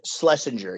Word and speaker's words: Schlesinger: But correct me if I'm wrong, Jaret, you wrote this with Adam, apologize if I pronounce his surname wrong, Schlesinger. And Schlesinger, yes.